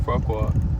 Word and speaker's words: Farquaad: Yeah, Lord Farquaad.